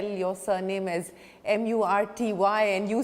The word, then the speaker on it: Murty: is most appropriate spelled M-U-R-T-Y. Because Sanskrit is a perfect language. And because for every pronunciation there is a letter. So when I said T-H-Y, I said that is th.